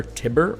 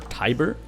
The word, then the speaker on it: Tiber: and gentlemen this here i think it's pronounced the river tibber or tiber and this is uh